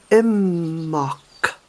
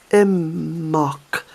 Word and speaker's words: Imbolc: you can remember it the pronunciation of amok is amok amok so you Levite that be a new one was put another em in phonetically amok and also the